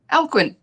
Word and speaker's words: Alcuin: And for everybody who's watching, that's how you say it, Alcuin, in case anyone was wondering.